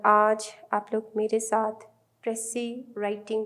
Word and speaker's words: précis: ठीक है, writing a प्रेसी, इसको प्रोनाउंस प्रेसी किया जाता है लेकिन इसको लिखा जाता है PRECIS।